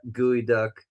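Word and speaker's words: geoduck: That was the funniest way to get to that, gooey duck. Okay, so let me go. My mascot was Gooey Duck, G-O-E, Gooey Duck. Okay, now I understand. That's how it's pronounced.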